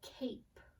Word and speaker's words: cape: The first word is cape. Spell out cape. We spell it C-A-P-E, cape. Remember, for that long A sound, we're using that bossy E, that silent E.